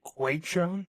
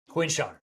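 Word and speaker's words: Quinshon: Did you say Quan? Quinn Sean. Oh, thank goodness. I thought I had his name wrong.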